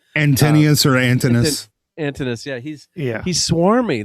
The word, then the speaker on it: Antinous: Antonius or Antinous? Antinous.